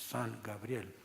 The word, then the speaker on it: San Gabriel: gabriel or gabriel and the pronunciation in spanish son gabriel so they were we